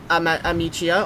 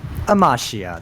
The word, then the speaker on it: Amachiya: So, Amichia or how do you say your name again? Amashia.